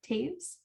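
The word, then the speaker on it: Toews: winnipeg and it's by owen have taves that's spelled toes so that's also a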